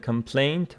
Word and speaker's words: complaint: So complain and complaint, both of them the stress on the second syllable.